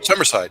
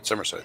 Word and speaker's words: Summerside: Somersside. Somerside. Thank you. I knew it had three syllables, but Charlottesville, Somersside, they they're similar.